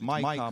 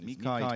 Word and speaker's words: MiCA: Some people call it MiCA, but I think the dominant pronunciation is MiCA.